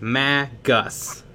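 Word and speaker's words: magus: a real word and the real word is pronounced ma gus and it it's a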